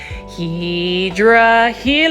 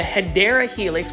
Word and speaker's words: Hedera helix: Hydra Helix. This one is for $4.98, and you already know, plant foldies, that the Hedera Helix, which is the correct way to say it, is an English ivy.